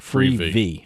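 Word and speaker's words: Freevee: I pronouncing that right free V okay yeah yeah because it's TV but it's free it's a big yellow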